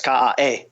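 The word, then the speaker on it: ka'a: So even something like uh stevia which a lot of people have heard of as a sweet herb the way you pronounce the name stevia is ka and so ka is the base of it.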